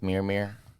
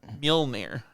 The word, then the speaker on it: Mjolnir: Because, get it, proves himself worthy with the hammer thing, with Mjolnir. Yes. I don't know how to say it. Mjolnir. Mjolnir.